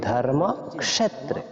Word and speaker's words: ধর্মক্ষেত্রে: বর্ণটা এজন্য বলবো ক্ষ তারপর এজন্য আমরা বলেছি ধর্মক্ষেত্রে এরপর কুরুক্ষেত্রে তারপর দন্তীয় স যেটা এটাকে আমরা সই এইভাবে উচ্চারণ করব এস ও স যেভাবে হয় এইভাবে